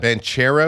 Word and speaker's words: Banchero: was Did I pronounce it right? Is it Banchero it's or Banchero?